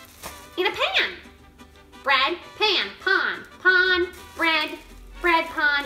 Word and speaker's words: pan: want to say it but it sounds like pan and it's spelled pan so this is a memory trick think of bread in a pan bread pan pond pond bread bread pond it's like you're making